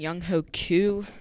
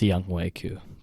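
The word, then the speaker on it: Younghoe Koo: Young Ho Koo looked like a stud. He got me like 17 points in fantasy, so that's good for a kicker. Actually, it's pronounced Young Wei Koo.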